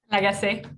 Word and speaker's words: Lagace: We'll move on to our next speaker now, who is Elise Lagace. Did I pronounce that right, Elise? Lagace.